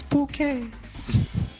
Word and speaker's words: Bucket: Kind of like the Bucket Woman, it's bouquet.